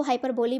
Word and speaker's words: hyperbole: Next हमारा आता है हाइपरबल। बहुत लोग इसको हाइपरबोली बोलते हैं, बट हाइपरबोली is right pronunciation.